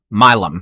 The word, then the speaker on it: Milam: and look someone did tell me how to pronounce this town or um Milano by 9 15. going up Milam thank you by the way J.R Lopez or